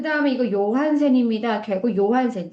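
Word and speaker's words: Johansen: 제이를 요라고 읽죠. 요한센. 저희는 조한센이라고 하겠지만 영어 발음에서는 하지만 이 덴마크 이제 유럽 요라고 읽는다라는 거 알아두시면 될 것 같고요.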